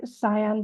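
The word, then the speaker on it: Sian: pronouncing her name right cyan Blake yeah it spelled Shan but she used to call herself cyan so yeah and and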